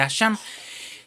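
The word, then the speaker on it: אשם: El sacrificio por la culpa es el asham. Y usted lo puede encontrar en la concordancia Strong con el número 817. Es una palabra hebrea que se pronuncia asham.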